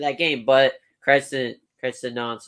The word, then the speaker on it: Nantes: How do you pronounce this team? Nantes.